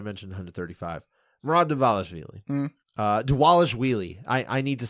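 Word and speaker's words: Dvalishvili: 135 marad deales uh deales wheelie I I need to say his name right I've been saying it wrong deales wheelie the v's are pronounced like uh W's all right yeah that's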